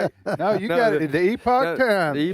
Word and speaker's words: Epoch: Is it epic or epoch? Epoch. Epoch. Oh, I got that one right.